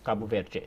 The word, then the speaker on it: Cabo Verde: even pronouncing the word Cabo Verde would pronounce it anything that ends in d and e is pronounced with a J sound while somebody from Portugal would say Cabo Verde from Brazil Cabo Verte so just even that